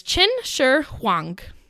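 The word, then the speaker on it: Qin Shi Huang: impact in our story today his name is chin Sher hang and I made sure to pronounce that correctly so I didn't have to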